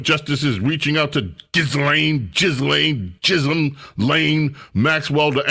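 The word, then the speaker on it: Ghislaine: Is that how you pronounce this broad's name? Gizlane. I've heard so many different pronunciations. Gizlane. I want to call it Jizlane, but I dare not.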